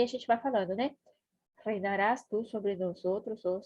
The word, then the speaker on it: reinarás: Você tem que, ó, prestar atenção na pronúncia do R. Reinarás. Esse R sozinho aqui no meio da palavra, ele tem o mesmo som do português.